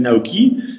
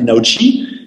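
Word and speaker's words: NAOqi: Naoki, d'ailleurs, je ne devrais pas prononcer comme ça, c'est Naochi, puisque le chi, c'est en chinois, dans le taoïsme, c'est le souffle vital. Le Naochi, c'est le souffle vital de notre robot.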